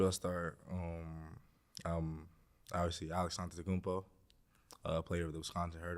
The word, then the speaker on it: Antetokounmpo: Antetokounmpo. That's the right way to say our last name, by the way.